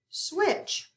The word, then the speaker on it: switch: Switch. Let's underline TCH. Cross out that T. Do not hear it in a short I sound.